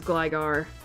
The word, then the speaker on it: Gligar: guy we have Gligar gler actually I think it's supposed to be pronounced as Gligar all right so gigar